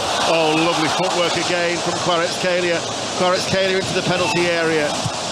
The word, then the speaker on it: Kvaratskhelia: It's pronounced Kvaratskhelia.